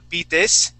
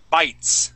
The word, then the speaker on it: bites: word is bite okay so that e is silent so we wouldn't say uh beat this okay or uh btis okay we would say bites okay so snake bites